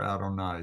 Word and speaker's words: Adonai: The vowels that are provided for this word are the vowels for Adonai. So you usually pronounce it Adonai.